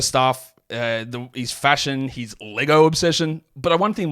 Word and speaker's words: Lego: I know you're not don't call them Legos it's just Lego Lego bricks it's not Legos I know that's a common mispronunciation sorry as I say